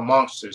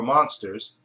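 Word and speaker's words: Munsters: know since they were monsters but they call them monsters pronounced m u n s RS said of monsters but they were actually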